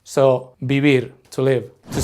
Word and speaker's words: vivir: Notice that it's spelled with a V, but we don't say vivir. In Spanish, we pronounce V's like B's. So, vivir, to live.